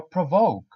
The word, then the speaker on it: provoke: Enrage, agitate, or provoke. Don't forget to pronounce the V. Provoke, provoke.